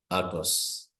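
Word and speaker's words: αὐτός: Okay, so I have the alpha and the epsilon as the diphthong, so that becomes autos. So I pronounce them as a single letter.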